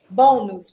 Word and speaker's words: bônus: Obrigada vamos aproveitando então bônus por que que eu acentuei bônus né porque é uma palavra paroxítona tem a penúltima sílaba tônica e das meninas e